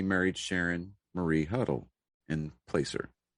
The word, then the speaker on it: Placer: And in 73, he married Sharon Marie Huddle in Placer, or Placker. I think that's pronounced Placker.